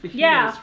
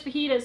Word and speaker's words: fajitas: to my mind so why do they spell it like fetas inste I don't know why they felt Jas pronounces like an H in oh shoot there